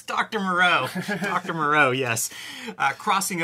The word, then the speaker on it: Moreau: would say his name dr moreau it's dr moreau dr moreau yes uh crossing over from the